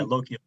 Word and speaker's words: Lochiel: The last one I have is that when you are down toward, I think you pronounced it Lochiel, do you have to backtrack or can you continue? Yeah, Lochiel.